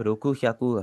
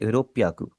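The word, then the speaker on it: ろっぴゃく: 600 को आप रोकू ह्याकू हरगिज नहीं बोलेंगे, आप इसे बोलेंगे रोप्याकू।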